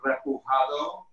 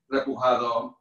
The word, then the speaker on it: repujado: I have been working with metals for about 25 years, and I work with a technique that in Spanish is called repujado, which is spelled R-E-P-U-J-A-D-O, and it's also a French word,